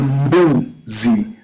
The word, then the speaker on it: mbuzi: You don't pronounce M alone. You combine M with B to produce the sound mbu.